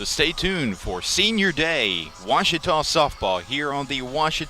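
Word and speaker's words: Ouachita: for wasita Baptist University back in Texas everybody pronounces it Witchita but really it's was was how would you pronounce it it's was Baptist University get it right it's wash people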